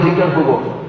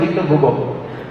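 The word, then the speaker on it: Victor Hugo: আমি ভাবলাম, লা মিজারেবল বইটার যে লেখক ভিক্টর হুগো, আমরা বলি ভিক্টর হুগো, অরিজিনাল উচ্চারণ হচ্ছে ভিক্টর হুগো।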